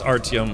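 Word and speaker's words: Artyom: Oh, it is Artium, but it's spelled Artum.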